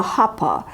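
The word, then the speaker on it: huppah: the ceremony will take place between underneath the hopper i'm going to spell it h-u-p-p-a-h this is a canopy and it's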